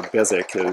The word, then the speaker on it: Beswick: these figures are all beswick or bezek is a lot of the folks in england pronounce it and it's a great